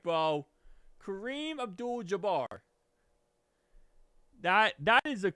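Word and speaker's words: Kareem Abdul-Jabbar: Kareem Abdul Jabar. How is that not correct, bro? Kareem Abdul Jabar.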